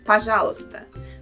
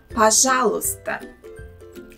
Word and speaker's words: пожалуйста: Пожалуйста. Е is silent here. We do not pronounce it. So remember that and don't say пожалуйста. Also in this word, the letter О in the beginning sounds as А.